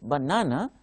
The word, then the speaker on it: banana: cell would the observe in banana the stress mark is on on second syllable just before starting off